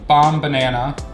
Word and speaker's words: Bombanana: But as always, go check out Bombanana. however you say banana, put bomb in front of it, and that's how you pronounce the company name.